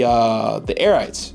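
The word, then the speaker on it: Arete: Fresh is a really dope guy, and so he designed these alongside Zygot, the Airites. I think that's how you pronounce it, Airite, A-R-E-T-E.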